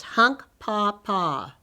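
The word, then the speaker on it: Hunkpapa: sitting bull was a hunka papa you say it like this hunk paw paw his tribe lived in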